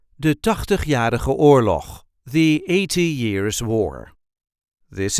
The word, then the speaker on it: Tachtigjarige Oorlog: There isn't really an emphasis on any of these words, just de Tachtigjarige Oorlog.